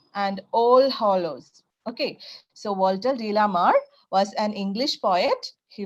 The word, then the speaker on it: Walter de la Mare: Okay, how to pronounce it? Walter de la Mare.